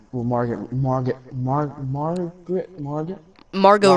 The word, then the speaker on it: Margot: Marg Mar Margaret Marg Margot Robbie Margo that's what that's how you pronounce it but Margo Robbie did